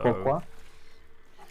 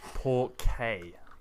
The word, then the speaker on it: porque: Pourquoi? Porque, not pourquoi. Porque.